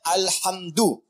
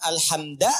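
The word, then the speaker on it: الحمد: Dibacaannya alhamdu, bukan alhamda pakai fathah atau alhamdi pakai kasrah. Ya. Apa bacanya? Du. Alhamdu. Pakai dhammah. Jadi kalau dibaca dalam salat, jangan baca menggunakan fathah alhamda atau kasrah alhamdi. Tidak. Baca menggunakan dhammah.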